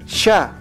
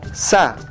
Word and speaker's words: chka: Los hablantes del Cusco saben que su pronunciación de chka es ahora sha, mientras que en Cochabamba, Bolivia, usa sa, y en otras regiones se dice ska o sia.